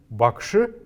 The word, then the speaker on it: бакши: бакши бакши это учитель букву г мы здесь произносим чуть глуши чем оно на самом деле в русском языке есть и как получится что мы произносим это слово как будто бы буква к этом есть бакши бакши бакши